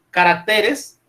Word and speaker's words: caracteres: No, como les dije en la clase pasada, caracteres, así es que se pronuncia correctamente en la parte de informática, caracteres, datos, carácter, diferentes tipos de caracteres.